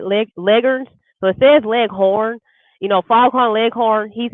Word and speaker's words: Leghorn: liquors so if there's Leghorn you know foghorn leghorn he's a licker the actual way you pronounce this legger but those are the